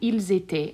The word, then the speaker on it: ils étaient: Once again, inside of my boot, all of those will be pronounced the same. J'étais, tu étais, il était, ils étaient.